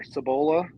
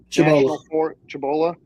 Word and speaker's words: Cibola: I think it's pronounced Cibola. Cibola, right there between Gallup and Albuquerque.